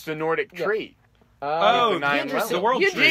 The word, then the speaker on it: Yggdrasil: it's spelled like Yrggigisid-I-S-I-L. Yrggigisid. This is Norse. It's the Nordic tree. Oh, the Yggdrasil. world tree. Yggdrasil, yeah.